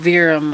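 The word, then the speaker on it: verum: cinnamon the sweet cinnamon cinnamon veeram I believe is how it's pronounced because I had not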